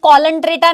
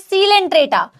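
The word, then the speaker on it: Coelenterata: ये कॉलंट्रेटा नहीं है, नाम दिखता है ऐसा ही कि कॉलंट्रेटा लिखा है, बट इट इज सीलेंट्रेटा।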